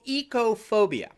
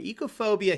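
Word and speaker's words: oikophobia: It's called ecophobia, right? Do you know that word? It's spelled O-I-K-O phobia. It comes from the Greek word ekos, which means house or home or household, right?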